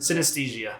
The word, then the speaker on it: synesthesia: synesthesia. Synesthesia. Synesthesia. Fuck that shit. Synesthesia. So anyways, Just think of and like I anesthesia. remember seeing the photos of